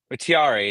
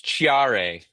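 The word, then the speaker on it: Thiaré: But Blackville was on spaces and he was talking about how MLS announcers pronounce names and why is it tiar? It's Chiare.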